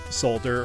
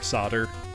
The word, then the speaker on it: solder: licensed famicom title and we got solder or solder I kind of find myself saying both you know I grew